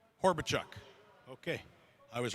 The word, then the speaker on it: Horbichuk: Easton, how do I correctly pronounce your last name? Horbichuk.